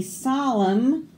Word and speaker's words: solemn: N is for naughty children who will sing a solemn hymn when autumn comes to an end. All of these N's we didn't say, did we? They were all silent.